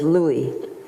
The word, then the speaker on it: Louis: grandfather addressing him and Louie which is of course the French pronunciation of Louis my father very proud